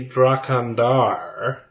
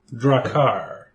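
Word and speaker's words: Draghkar: haven't shown us any dracon dar let me see if i'm saying that right dar dragoner no i'm saying it wrong dracar i just added an extra syllable we haven't seen any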